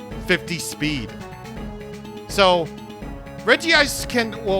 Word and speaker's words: Regice: It's everybody's favorite unpronounceable Ice-type Pokemon, legendary Regice. If you pronounce it Regice, you're in the complete right to do so, but you are wrong. Regice, look at you.